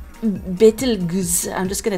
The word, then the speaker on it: Betelgeuse: Looks like Betelgeuse, I'm just gonna say it different every time, can be pronounced in any combination with bet, like the word bet or beat, and goose as in juice or Jews.